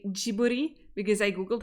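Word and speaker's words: Ghibli: a lot of I would like to say jiburi because I Googled how to say it but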